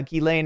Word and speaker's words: Ghislaine: Ghislaine, yeah, Ghislaine is how it's pronounced, right?